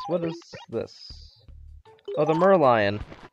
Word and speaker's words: Merlion: is this oh the merlion i realized that i pronounced it wrong said merloin huh let's bring that